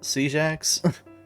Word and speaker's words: CJax: went by another name cjax yeah yeah C Jax I think it's how yeah that's how I pronounced it okay yeah but but